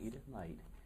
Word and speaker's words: Edith Knight: Did I pronounce that right? Yes. Edith Knight.